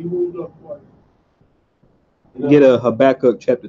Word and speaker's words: Habakkuk: Habakkuk chapter 2, verses 5 and 6.